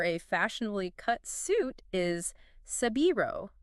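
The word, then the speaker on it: 背広: And the Japanese word for a fashionably cut suit is sabiro, which is their pronunciation of Savile Row.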